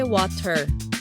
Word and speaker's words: water: 프리티가 프리리처럼 워터가 워러처럼 들린 적 있죠?